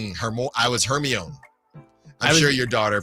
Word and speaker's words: Hermione: Did I Did I tell you that for a good part of my life, I kept reading Hermione as Herion?